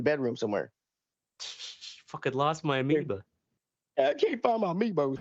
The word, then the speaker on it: amiibo: Fucking lost my amiibo. I can't find my amiibos, man. What is it? How do you say it? Or how do you spell it? Amiibo. Shit. Amiibo. I called it an amoeba.